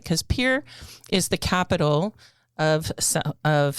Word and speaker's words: Pierre: you know, and um it's pronounced pier, not Pierre, even though it's spelled like Pierre.